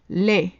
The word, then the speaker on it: laid: Laid for masculine and laid for feminine. Ugly. So laid, laid. In the masculine form, the D at the end is silent.